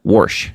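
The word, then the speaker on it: Warsh: New Fed chair, Kevin Worsh. W A R S H. No, that's not Wash.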